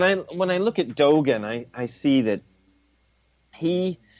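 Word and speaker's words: Dōgen: is that the way you say his name Dogon Dogon Thank You Dogon was for the most part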